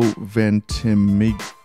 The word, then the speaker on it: Ventimiglia: I can't pronounce people's names. It's Milo Ventimiglia.